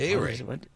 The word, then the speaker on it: Ehire: A-Ray. Just think A-Ray.